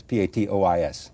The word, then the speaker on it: patois: How do I pronounce this? P-A-T-O-I-S.